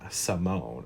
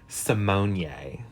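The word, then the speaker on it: Symoné: Also, her last name is not Raven Simone. She is Raven Simonier.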